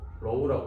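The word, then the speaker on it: ρ: 얘를 어떻게 읽어야 돼요? 로우라고 읽어요.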